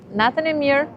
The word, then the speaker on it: natën e mirë: It's natën e mirë.